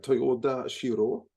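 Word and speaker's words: Toyoda Shirō: Yeah, director Toyoda Shiro.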